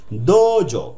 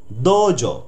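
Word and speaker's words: どうぞ: ওয়ার্ডের পর উটা থাকো, ওই উটার কারণে একটু টানা উচ্চারণ হয়, দোজো দোজো ইয়োরোশিকো। এই উটা হচ্ছে লং ভাওয়েল বলা হয়, লং ভাওয়েল যে টানা উচ্চারণ, দোজো দোজো ইয়োরোশিকো।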